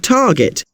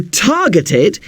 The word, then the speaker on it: target: The stress is on the hap bit of happen and the tar bit of target.